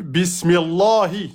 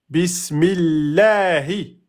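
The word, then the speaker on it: بسم الله: Donc bismillahi et pas bismillahi. Donc là il fallait repérer le nom d'Allah à dire en aminci à cause de la kasra.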